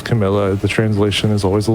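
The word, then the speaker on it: Carmilla: And yes, I I did say her name right. It is Camila.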